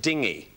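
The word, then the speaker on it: dinghy: a type of boat which consonant is silent in the word dingy staffer y incorrect Cardiff G incorrect Deborah H the H is the silent one that's right Deborah Deborah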